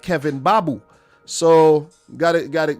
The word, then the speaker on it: Mbabu: saw this guy kevin babu his name is babu the m is silent kevin babu was for